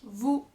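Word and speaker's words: vous: at the end um Vu Vu once again the link and the Z is silent at the end and plus Z makes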